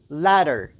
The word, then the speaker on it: letter: دویم ladder ladder. دوستانو دا اصل کې L-E-T-T-E-R د letter خو کله چې دوی تلفظ کوي دغه ټي د ډي غوندې تلفظ کوي.